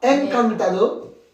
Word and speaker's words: encantado: Alors attention à la prononciation. Me ha encantado.